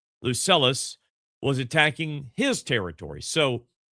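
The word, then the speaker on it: Lucullus: Before the threat developed further, Tyraes received word that Roman forces under Luc Lucius uh, Lucelus, excuse me, Lucelis. Uh, that's spelled L U C U L L U S. Lucelus was attacking his territory.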